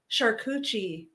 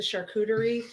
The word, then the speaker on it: charcuterie: we go um my charcucci board because like the charcuterie so a lot of people that can't pronounce charcuterie they say charcucci so my would you